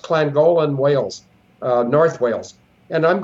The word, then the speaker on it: Llangollen: It's pronounced Llangollen, Wales, North Wales.